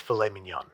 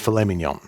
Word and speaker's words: filet mignon: So, next up we have beef tenderloin or as the French like to call it, fillet mnden. It's famemenon, but I love you and you're doing great. I'm being told it's pronounced filemen.